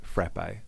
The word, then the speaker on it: frappe: From Hughesale and he says frappe. So that's one for Casey and I. Yep. James, a real person in Melbourne. Frappe. The A is pronounced like cat.